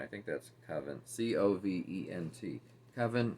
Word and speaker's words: Covent: think that's coven c-o-v-e-n-t kevin is how i would pronounce it garden so again she's